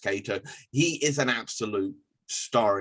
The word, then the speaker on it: Kaito: he is going cato i believe that's actually pronounced cato he is an absolute